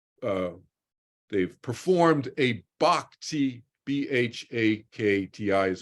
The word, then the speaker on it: bhakti: they've you know uh they've performed a bhakti b-h-a-k-t-i is how you spell it in English but the Sanskrit is bhakti